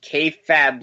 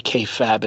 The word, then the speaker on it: kayfabe: I don't know why, but every time you say kayfabe, it annoys me. Oh, Harry, you're so cranky and I have a headache. Let's wrap it up and move on. Come on. The E is silent. Fabe.